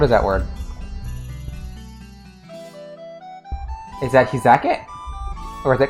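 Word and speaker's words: 火酒: Is that hizake? Or is it kashu?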